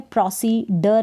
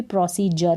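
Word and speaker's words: procedure: अब यहाँ पर है प्रोसीडर, नहीं पढ़ेंगे इसको भी, प्रोसीजर पढ़ेंगे।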